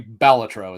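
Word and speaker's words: Balatro: Because Bolatro is not $80, right? Actually, I guess I guess they've confirmed it's actually Batro is how you should pronounce that.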